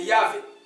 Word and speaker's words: Yahvé: C'est le mot, je ne sais pas comment le prononcer, YHWH, c'est Yahvé.